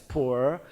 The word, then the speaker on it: Pu'er: The traditional Pu'er tea, and they are Pu'er tea in China, pronounced as Pu'er, and then from now on, Atomy pure tea will make it Pu'er tea.